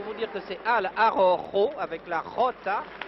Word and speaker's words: Araujo: Alors je reprendrai cet homme en noir pour vous dire que c'est Al Arrojo, avec la Rota, qui se prononce du fond de la gorge, qui est, paraît-il, vainqueur de Jiménez.